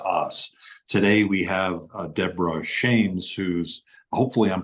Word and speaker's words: Shames: name perfect okay um I wanted to almost say Shamus like a western us kind of feel to it I could